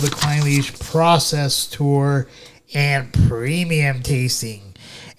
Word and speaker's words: Clynelish: I totally mispronounced Clynelish. Clynelish, not Clynelish.